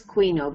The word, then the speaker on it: quinoa: uh um quo a add an a to the quino it pronounces quino but it's written quinoa um and they're they're